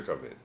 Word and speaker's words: cavere: Que lhes educou o cavere, ou melhor dito, cavere, pronúncia cavere.